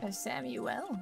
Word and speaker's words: Samuel: Sam Samuel why' you pronounce it like that it's not it's just Sam no that's actually the correct pronunciation Samuel really yep that's why